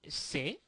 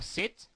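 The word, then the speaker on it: cet: or or that uh say can be pronounced you will hear some people say say or set or set well feel free to use either one okay so use set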